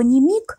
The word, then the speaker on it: nimic: Ставшее названием фильма слово «немиг», именно с ударением на втором «и», румынского происхождения.